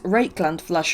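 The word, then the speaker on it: Rakarth Flesh: then put a coat of rakeland flesh let's pronounce it right this time that is rake land flash over the top it makes it look like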